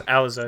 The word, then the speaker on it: Alize: we should revisit your I'm going to say his name wrong, Alize Johnson. No, Alize Johnson. Right. It's Alize.